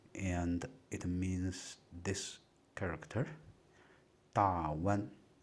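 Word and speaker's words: 大宛: Dawan. Or some people pronounce it as Dayuan.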